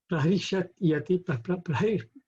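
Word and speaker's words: प्रहृष्यति: So if we pronounce this separately, we would be prahishyati, prahishvati, and Anurajyate. But when we rhyme it, then the Y and the A go together, and then it becomes prahishatya nurajyate, like that.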